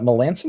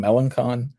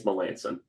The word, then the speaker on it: Melancon: to inquire about, uh Melanson was not how I was pronouncing this at all in my head. Uh like I was saying Melancon. Uh is that what the KSO guys were saying on there? Yeah, Drew was saying it's Melanson.